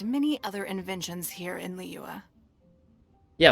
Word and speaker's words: Liyue: other inventions here in lyua yeah like she says li you are or liwa leewa for some reason when it's like not spelt that way but then a lot